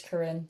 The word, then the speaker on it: Coryn: But um yeah, I know my my name is spelled a little bit uniquely and so there's a lot of pronunciations. I'm cool with whatever, but typically it's Karen. So Karin for the win.